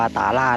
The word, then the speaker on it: ต๋าหลาด: นา หนอง นะ ครับ อ่าน ว่า ตาราช นะ ครับ เพื่อน ๆ ก็